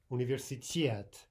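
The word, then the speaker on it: университет: So for example, you could practice saying universitet, universitet, right? And just get that extra oomph that you need for the stress syllable at the very end of the word.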